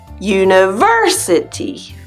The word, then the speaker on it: university: on the syllables but in English it's like University that third syllable is stronger and a little longer if we exaggerate universe